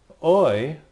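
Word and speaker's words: οι: in the number eight the third one well in some parts of the English speaking word oi like in oil other places you know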